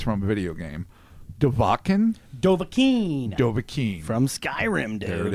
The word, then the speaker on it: Dovahkiin: You might have to help me with this because I think I mispronounced it. It's from a video game. Dovahkiin? Dovahkiin from Skyrim, dude.